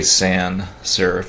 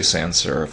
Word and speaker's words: sans-serif: have the son serif and you can say san serif is fine don't pronounce the s but in america you can say sans-serif i say it all the time french is sans serif um if you want